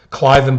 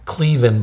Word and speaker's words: Cliven: Cliven Bundy, and we mispronounced his name, Cleveland Bundy last time, has got to pay his $1 million, then maybe somebody will listen to him.